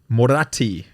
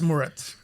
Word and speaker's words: Murat: Murat. How do you say your name in Turkish? It's Murat. In Murat. every language, you say it exactly the same way.